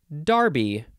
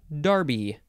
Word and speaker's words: Derby: word is Derby and the British say Darby is that let's just confirm the pronunciation I believe that is correct where yeah Darby it's just d-e-r-b-y noun from